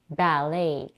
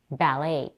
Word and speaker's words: ballet: the mouth a little the T at the end of the word is silent let's say the whole word ballet ballet the next on my